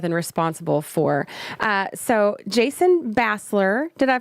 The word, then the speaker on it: Bassler: been affiliated with and responsible for so Jason Basler did I pronounce that right Jason you did incorrect so